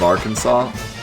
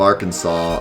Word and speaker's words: Arkansas: the hospital every day what happened to the s at the end of arkansas well the s at the end of arkansas and the p at the beginning of pneumonia escaped escaped the letter jar and went off to